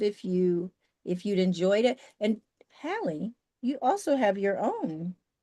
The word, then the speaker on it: Hallie: So it's like Hallie, like from the Parent Trap, and then, like.